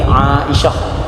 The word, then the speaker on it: Aisyah: Kita minta tolong panggil bagi betul, panggil Aisyah. Jangan panggil Aisyah ni. Jangan panggil Aisyah, panggil Aisyah. Sebab kalau kita tengok dalam ejaan Arab dia Ain Alif Aisyah.